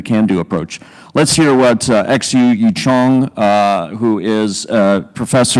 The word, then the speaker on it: Xu: Yeah, so XU, and she prefers that people pronounce her name XU, spelling it out, that she's been clearly emphatic about what she thinks the right approach is.